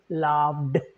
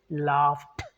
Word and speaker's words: laughed: Now, say laugh, say, you might You might have said laughed because it's ed. No, because F sound is voiceless. What we do, the first rule says, then we must pronounce it as t sound. So laugh, because of the F sound, even though it's ed, we say laughed.